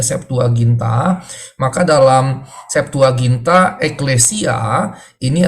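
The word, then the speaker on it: Septuaginta: dengan angka latin yaitu lxx tapi dibacanya saptualginta maka dalam saptualginta eklesia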